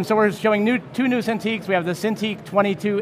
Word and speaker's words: Cintiq: Oh yeah, Cintiq, yep.